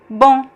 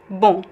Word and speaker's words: bom: We have 2 common pronunciations for this word in Portuguese. It can be just a single vowel, on, bom. Here's French, right? Bon. C'est bon, bon. É a mesma pronúncia. It's the same pronunciation here as in French.